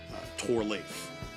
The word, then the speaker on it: Torleif: The first part of my name, Tor, is more commonly known as Thor, Norse mythological god of thunder. My grandfather's middle name was Torleif, but the H was silent.